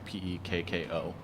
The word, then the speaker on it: Pekko: This is Cascade, Chinook, and Pecco, or Pico, or I don't know. I've only ever seen it spelled. I don't know how to pronounce it. Pekko.